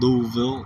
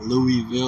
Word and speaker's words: Louisville: And if you haven't uh been given the correct pronunciation, it's pronounced Louisville, not Louisville or Lewisville.